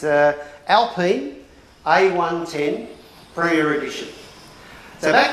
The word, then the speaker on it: Alpine: yeah thank you it's it's the chronic correct pronunciation is it's a alpine a110 premier edition so back in 1955 was